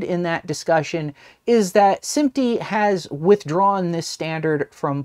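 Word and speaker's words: SMPTE: picture and television Engineers or sympty as I'm apparently been discovered that they call themselves or they pronounce their acronym as opposed to spelling it out but whatever that's neither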